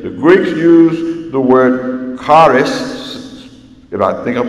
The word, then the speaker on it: charis: Also remember this, the Greeks used the word charis, if I think I pronounced that right, it's pronounced, I guess, like charis.